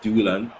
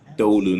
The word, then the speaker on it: Dolan: For so long, I've been calling him Tyrese Doolan. I'm going to have to get used to saying Tyrese Dolan.